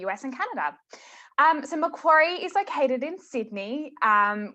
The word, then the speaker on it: Macquarie: our next presenter um from macquarie university sydney awesome pronunciation that's right my name is